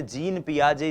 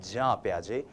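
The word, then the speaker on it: Jean Piaget: जी हां, हम इनको हिंदी भाषी लोग अक्सर जीन पियाजे जीन पियाजे कहते हैं। लेकिन यह जो जीन शब्द है जे इ एन जो ये स्पेलिंग है ये स्पेलिंग जो है इसका उच्चारण जब आप स्विस भाषा में करते हैं यूरोपियन कंट्रीज में करते हैं फॉरेन ऑथर्स को पढ़ते हैं तो वो होता है जा पियाजे। तो हम भी जा पियाजे बोलने की कोशिश करेंगे।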